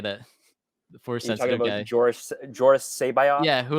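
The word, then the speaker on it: C'baoth: jorus g-o-r-j-o-r-r-u-s and then it's C apostrophe b-o-a-t-h George crazy sorry it's c-b-a-o-t-h say bye is how you pronounce it okay he's in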